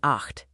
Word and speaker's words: acht: A trickier sound is ch. It sounds soft like in ich, I, or hard like in acht, eight.